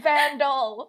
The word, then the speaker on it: Van Dahl: is his name no his name is vandal like van and then it's like doll spelled like roll doll i don't know if